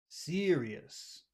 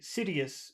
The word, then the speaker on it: serious: things in that word number one that r that happens in your throat so uh should be longer but also uh it's the accented syllable so that's two reasons why it should be pretty long yes does that make